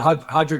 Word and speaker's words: Roger: Yeah, it's spelled Roger, but yeah, Hodger Gracie with the gi.